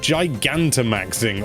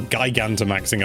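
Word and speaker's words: Gigantamaxing: Dinah maxing although it's very similar it's called Giganta maxing or gigan to maxing i've seen some people pronounce it which is wrong this not only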